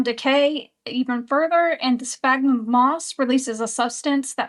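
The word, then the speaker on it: sphagnum: Spagnum moss.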